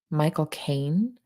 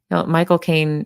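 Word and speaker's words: Michael Caine: a British accent right if you want to say his name and sound exactly like he does when he says his name pretend you're actually saying the phrase my cocaine and just say it fast my cocaine now you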